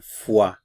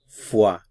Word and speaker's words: froid: Notice the pronunciation, froid, froid. Avoid the temptation to pronounce phonetically, froid, froid.